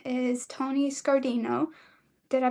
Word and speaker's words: Scardino: His name is Tony Scardino. Did I pronounce that correctly?